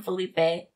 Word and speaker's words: Philippe: seminar from four yeah I think it's pronounced Philippe sure I heard it both ways I've always called them Felipe because that's just my Mexican coming out and he's Portuguese so it's like the same but yeah so he uh